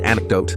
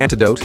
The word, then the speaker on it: anecdote: my hand and said I think you mean anecdote she fixed me with her cold lizard-like gaze and frostily replied antidote is just an alternate pronunciation of anecdote before moving on with